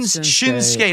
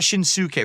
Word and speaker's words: Shinsuke: Shin Nakamura it's it's not Shins It's Shin shinsuke not shinuk right you don't pronounce it right that way okay no it's